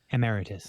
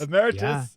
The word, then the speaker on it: emeritus: How do you say that word? Emmeritus. Emmeritus. I had the wrong Yes. empasis. A professor emmerit. Emmeritus emeritus you can do it